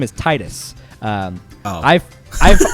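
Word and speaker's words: Tidus: titus um i've i've i've always pronounced his name as titus but i think in one of the games like in the dissidia games they somebody says his name and i think it's the first time that square enix got someone to voice his name and they say his name is titus but no that's right i don't care no that's wrong it's spelled t-i-d-u-s and i've always just pronounced that as titus so i'll call it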